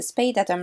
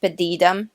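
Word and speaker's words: Spadeadam: be tested at the Spade Atom rocket establishment. Excuse me, I think you'll find it's pronounced Spedidum, duh. Yeah, no, it's not.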